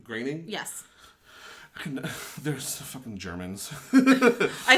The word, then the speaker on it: Groening: Groening? Yes. There's fucking Germans. I know, it looks like Groening, but it's Groening.